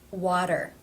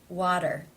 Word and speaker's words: water: This T comes between two vowel sounds. Therefore it is pronounced as the flap, tap T, or in other words, the D sound. Water. Water.